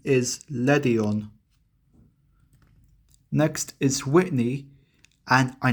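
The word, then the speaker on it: Ledian: The official pronunciation is Ledion.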